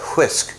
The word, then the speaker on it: whisk: And I pronounce that whisk because there's an H in whisk.